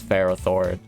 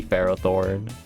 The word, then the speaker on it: Ferrothorn: he says pokemon names the only correct pronunciation is what my name is what i think it is like ferrothorn is ferrothorn and nothing can change that froth or no it will forever be pharaoh thorne australia australia ah